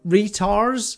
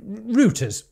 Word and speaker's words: Reuters: Retars? How do you say it? Retars? Reuters.